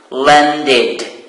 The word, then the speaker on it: landed: Land, it ends with the sound d. Look, land. So plus ed at the end, it is pronounced landed. Id.